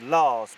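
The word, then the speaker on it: Lasch: his ultimate fate well martin lash's surname is actually pronounced lars because it's norwegian now following his arrest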